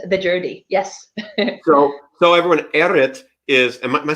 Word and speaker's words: Errit: So everyone, Eritt is.